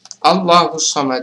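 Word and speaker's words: ٱللَّهُ ٱلصَّمَدُ: asli kemudian allahus Somad allahus Somad adalah hukum Bacanya adalah takhim atau tebal karena lafaz Allah didahului oleh huruf Hija berharakat fathah Jadi bukan Allahu tapi kita baca tebal allahus Somad sedangkan huruf Shad di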